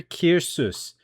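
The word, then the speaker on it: Caersws: So, it's pronounced Kir Kir. So, like beer Kirus.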